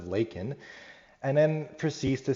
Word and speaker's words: Laken: from all the crisis but pronounces it wrong head says Lincoln instead of Laken and then proceeds to